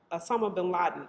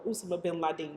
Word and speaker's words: Usama bin Laden: like they did for Assuma uh Osama bin Laden or Usama bin Laden, that's his name. That's how you pronounce it.